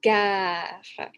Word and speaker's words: gare: gare ou la gare faites bien attention à la prononciation gare la gare train station parce que la guerre c'est war Laer me war Laer